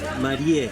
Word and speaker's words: Marié: Marie. Sí, Marie. ¿Y se escribe tal cual, Marie? Marie sí, como escribe como Mary. Como Como Mary. Okay. Como Mary.